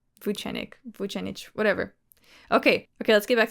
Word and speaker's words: Vucenic: I had a Serbian friend in high school whose last name also ended in IC, and she said that it was pronounced itch. Though I've heard most people pronouncing it ick.